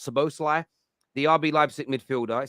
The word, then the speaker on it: Szoboszlai: name right Dominic uh so both lie I think it's pronounced so Bosley the RB livestock midfielder